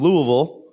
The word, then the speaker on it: Louisville: not much yeah well first of all in Louisville as I've just learned to say it correctly